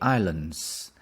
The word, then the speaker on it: island: your country have many islands does your country have many islands Islands Islands we don't pronounce the s s is silence Island the next one